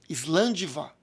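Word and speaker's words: Slàinte mhath: terras altas das highlands que é pronunciado island' Vá então quando você vai fazer o tilintar dos copos né E hoje principalmente você fala num tom de voz forte island' vá que você desejando saúde e vida longa daquela pessoa o que você tá bem dando então é e a forma de escrever grande Vai nada tem a ver com a pronúncia grande não quero nem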